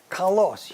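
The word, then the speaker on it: καλός: what I okay now this is the word Kos you notice there's one L and the accent is on that o second syllable and that's the word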